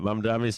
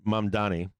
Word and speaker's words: Mamdani: Mamdami's father is a film producer. No shit, I didn't know that. Are they wealthy or not? Is Mamdi wealthy? Did I say his name right? Mamdani.